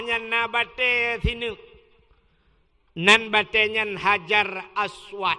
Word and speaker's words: Hajar Aswad: nabati sini nembak Canyon Hajar Aswad Indonesia padahal Bacanya adalah Hajar Aswat hajar batu Aswad hitam